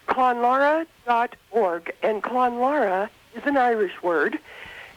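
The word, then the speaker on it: Clonlara: Darya Brzezinski, and we have with us today Pat Montgomery from the Clonlora School in Ann Arbor, Michigan, which you heard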